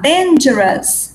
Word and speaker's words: dangerous: Dangerous. Dangerous. Dangerous. Dangerous. Tudo que termina com O-U-S. O-U-S, só em inglês é us. Que nem famous.